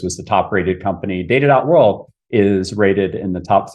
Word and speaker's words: Data.World: Yeah, we launched we founded in 2015 and we launched Data.World. It's Data.World, by the way. Yep. Always pronounce the dot.